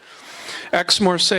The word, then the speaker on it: Aix-Marseille: Yesterday I pronounced it, it's spelled A-I-X. I thought it was I. What do I know about French? Aix-Marseille University and the University of Hamburg brings his